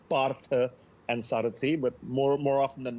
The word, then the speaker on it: Parthasarathi: It's Parthasarathi, but more often than not, people, when trying to pronounce my surname, sort of end up being breathless for the wrongest reasons.